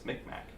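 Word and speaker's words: Mi'kmaq: It's Micmac. Micmac.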